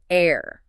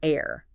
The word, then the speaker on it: heir: Silent H starts with an ow sound, so an hour. Same for honest, an honest person, or heir, an heir. And what about abbreviations?